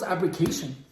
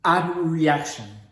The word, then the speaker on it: abreaction: I just thought it was abrecation. So it's actually called abreaction.